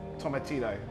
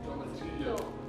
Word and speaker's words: tomatillo: Yeah, a little bit of an L in there. Tomatillo. Tomatillo.